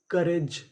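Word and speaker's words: courage: यहां पे हमें ओ यू का उच्चारण नहीं करना। और आखिरी में लिखा है आर ए जी ई। इसे पढ़ेंगे रिज। तो पूरी मीनिंग क्या बनी? करज।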